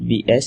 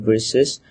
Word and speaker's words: versus: is uh vs uh i heard one of you said vs instead of versus so it would be good if you pronounce it the full not in short form overall your slides are